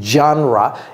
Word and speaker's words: genre: le savent pas que le genre de musique c'est Music genra et ça s'écrit exactement